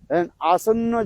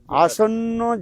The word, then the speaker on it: आसन्न: इसलिए कहते हैं तिर्जग जनी प्राप्ति लालसा आसन्न जनता हित विड़ोलन। याद रखना क्या बोला, आसन्न जनता हित विड़ोलन। आपके उच्चारण नहीं आसन है, अरे संस्कृत शब्द है सब।